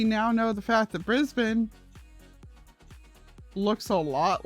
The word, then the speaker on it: Brisbane: i do at least know that it's pronounced brisbane i still wind up instinctively pronouncing it brisbane and then have to correct myself but i do know that it is brisbane knocked out because it